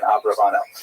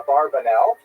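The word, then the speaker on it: Abravanel: uh late 15th century as we see in Abraano. Uh much of this material is drawn from a very famous biography of Don Isaac Abraano. I should mention by the way many people pronounce the name uh Abarbanel and that's because of the uh it's much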